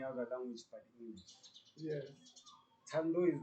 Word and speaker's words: Thando: It's Thando in South Africa because that's how people pronounce it.